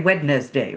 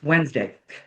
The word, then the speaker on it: Wednesday: try, we don't say Wednesday, right? It's Wednesday. It comes from Wonentag, the day of Woden, the god Woden. So it's, mythological sort of thing, but we say Wednesday, we don't say the D, there's little tricks like that.